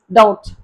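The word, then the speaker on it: doubt: For example டவுட், டவுட்லெஸ், டவுட்ஃபுல்லி.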